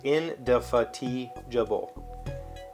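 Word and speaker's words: indefatigable: british playwright endofatigible i-n-d-e-f-a-t-i-g-a-b-l-e that's what the pronunciation key says in da fatih jabal emphasis on the t into fatiguable and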